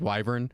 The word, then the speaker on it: wyvern: Well, we've tried to solve for that in our book by giving the northern pronunciation is wyvern. Oh yeah. And then everyone else says wyvern.